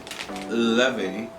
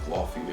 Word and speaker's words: Laufey: The next artist I have here is Laufey, and I literally did not know how to pronounce her name up to like 2 days ago. I thought it was like Laufey or whatever, but yeah.